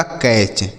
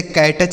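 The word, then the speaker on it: catch: सही उच्चारण इसका होगा कैच। ठीक है? कैच इसे कैटच नहीं पढ़ेंगे।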